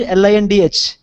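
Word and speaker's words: Lindh: How can I pronounce L-I-N-D-H?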